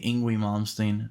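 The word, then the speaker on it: Yngwie Malmsteen: you say his name i say ingwi malmsteen it's like the european way i guess and he played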